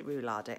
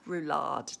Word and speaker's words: roulade: I don't really fancy rule our day oh my god i'm so rubbish at pronunciations pronunciations as my dad used to say roulade darling its roulade anyway that's roulade unless